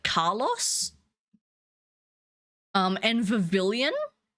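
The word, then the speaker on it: Vivillon: Um, and Vavilian was Vivian as in like the L's were silent, which like I kind of get the region's based off France, but like it's pavilion. What do you mean? You can't look at that word and just decide that L's are silent.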